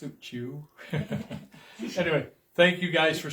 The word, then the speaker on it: Suchiu: And it is pronounced Suchiu.